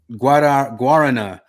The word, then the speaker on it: guarana: might not understand you, that always blew my mind with like accents over syllables, like guarana, like what? Okay. Yeah. Guarana. Ah! Yeah. It's such not an English thing, but it is a real thing in those other countries. They really will not understand you if you put the emphasis wrong.